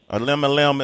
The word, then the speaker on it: Elemelem: Elemelem is the name of the project. Make sure you pick it up. Elemelem. And 11, Sway. You gotta say it like a drunk uncle saying 11.